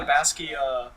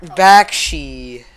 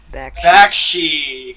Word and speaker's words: Bakshi: Like it doesn't even have the Basky am I even saying it right? Bakshi. Bakshi.